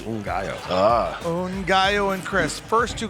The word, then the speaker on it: Ngaio: We have the same spelling, but it's a different pronunciation. Hers is Ngaio, mine is Ngaio.